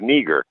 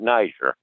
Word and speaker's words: Niger: or black and uh the pronunciation is neager not neither so type in that's